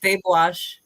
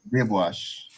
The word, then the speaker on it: Deboche: It's French, but we pronounce it the Creole way. Oh, that's why I'm saying "de," like two. Yeah. For French. Okay. So Yeah. it's de, repeat? Deboche. Deboche.